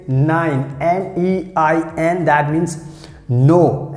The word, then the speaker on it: nein: And if you want to say no, so you can say nein, N-E-I-N, that means no. And how you have to pronounce like nine.